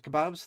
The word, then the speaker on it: kebabs: It's breaking it but yes um my my my my name is kebabs. That's how you pronounce it. Um it's exactly how you say the food.